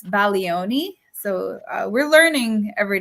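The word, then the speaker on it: Bologna: country uh remember it's baloni so uh we're learning every day right so now Italian class uh the G you do not pronounce the G uh so uh we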